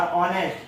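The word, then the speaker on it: honest: और ऑनेस्ट, क्योंकि एच जो है वो साइलेंट होता है, ओ से शुरू होता है, ओ से आवाज आती है, तो उसके साथ हम क्या यूज करेंगे एन।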